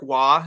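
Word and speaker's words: Roy: Well, I want to brag that I know that Patrick Waugh is spelled R-O-Y.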